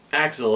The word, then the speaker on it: AXL: so lo and behold Axl pronounced Axel apparently a company I've been